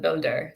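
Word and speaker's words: Buildah: uh of course being the way you pronounce DACA uh if you're Dan Walsh and grew up in the Boston area and so that's where bilda gets its name from uh yeah he pronounces it Builder so it's interesting oh that's funny I haven't I don't know if I've got it because it ends in a soft day sound yeah so he's like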